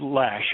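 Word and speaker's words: Loesch: Yeah, they they pronounce it Lash.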